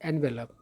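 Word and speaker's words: envelope: और ई वाला जो है इसका उच्चारण भी अलग होता है। इसको पढ़ा जाता है एनवेलप, है ना।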